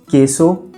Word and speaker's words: queso: In Spanish, when we write QUE or QUI, the U is completely silent. Therefore, QUE is pronounced K and QUI is pronounced ki. Let's look at some examples: queso, pequeño, quién, quince.